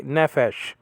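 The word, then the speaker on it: נפש: an e-class like actor so ne fair and then the sh is with this in the same syllable fish okay nephesh netfish okay that's a sheen and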